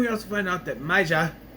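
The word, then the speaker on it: Maya: And we also find out that Maja, I say it like that because that's how Alejandro says it, and I like how he says it. Maja.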